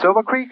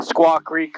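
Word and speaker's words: Squaw Creek: Oh, it's the uh Silva Creek. How do you say it? Uh the Squawk Creek Reservoir.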